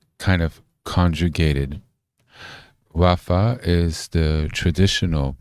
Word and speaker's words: רפא: Oh, she pronounces it riffa, a modern Israeli way of pronouncing it in the spoken sense. So, it's kind of conjugated. Rafa is the traditional pronunciation.